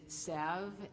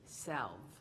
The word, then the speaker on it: salve: This word has two pronunciations. One is salve and the other is salve.